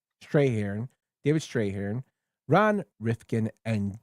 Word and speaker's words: Strathairn: It stars Kevin Spacey, Russell Crowe, Guy Pearce, Kim Basinger, Danny DeVito, David Stray. How do you say his name, Tone? I always get his name wrong. Strahan.